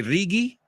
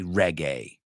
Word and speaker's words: reggae: comes to mind is the word reggae you say rigi I think you I've heard people say so you say RI we say reggae like gay come on right homosexual